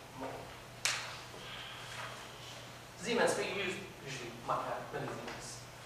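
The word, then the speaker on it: mho: It's the opposite of ohm. If this is ohm, this is mo.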